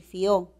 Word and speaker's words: fió: Una cosa es decir fío con hiato acentual y otra cosa es decir fió.